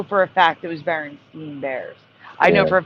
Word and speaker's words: Berenstain: The reality is it's actually Berenstain Bears, Stain.